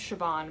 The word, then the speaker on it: Siobhan: my nickname style because my name is siobhan but it's spelt like this we'll put it here because it's irish and it's weird spelling okay this question i